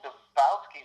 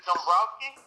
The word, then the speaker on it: Dombrowski: Krieger and with Dombrowski. Did I say that correct? You didn't, but Ellen didn't say it right either, so I forgive you. So is it Dombrowski? You got it that time.